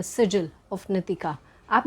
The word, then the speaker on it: नितिका: कुछ ना कुछ ऐसी चीजें करनी है तो कंसीडर कीजिए वर्किंग वि नितिका। सबसे पहले कह दूं नाम है नी ती का नॉट नी की ता तो नाम सही लेने